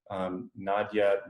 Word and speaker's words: Nadja: It was about because we got on the topic of Nadja mentioned. Is that how your name is pronounced, by the way? Yeah, that's exactly how it is. Okay, Nadja. cool.